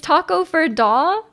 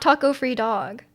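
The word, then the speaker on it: Takoyaki: for dog is it's Taco for da like that sorry to break it to you we've been saying it wrong there's no dog oh no it's not Taco free dog what was the animal Ikea called again oh I can't remember um breaks it to us yeah we've been using it this whole time oh my gosh and then you stress the first and third syllable t t to Taco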